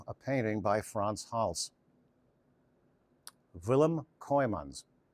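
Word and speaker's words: Willem: And here we have a painting by France Hals, Villim Kymans. The way you pronounce a W in Dutch is it's like there's a V in front of the W. V. So that's villim.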